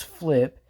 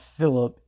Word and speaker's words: Phlip: So yes, his name is Flip, and it's not Philip, and it's spelled PHLIP. Like Flip, the backflip, only with a PH instead of an F.